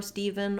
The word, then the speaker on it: Steve: is a nickname for steven or you can be named just steve without having stephen as your formal name it's the same pronunciation just minus that celeb again so stephen and